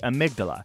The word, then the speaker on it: amygdala: The fear center of our brain is the amygdala. That is spelled Amy-G-dala.